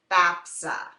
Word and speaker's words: FAFSA: FAFSA sometimes people say FAA but we're it's pronounced FAFSA so that application is how you get need